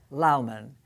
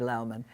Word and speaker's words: Lowman: Her name is Meg Lowman, L-O-W-M-A-N. In the beginning, people start calling her Lowman, but no, Lowman is the correct pronunciation.